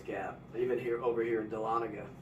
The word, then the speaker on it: Dahlonega: Even over here in Dahlonega.